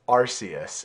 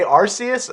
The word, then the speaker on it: Arceus: And then now I need to know, Ed, Pokemon Legends Arceus. First off, do you say Arceus, or how do you pronounce that?